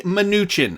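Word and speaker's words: Mnuchin: press conference with Secretary minuchin and so for those of you guys who do not know how to pronounce it for the record Stephen Newton it's Stephen minuchin alright just to get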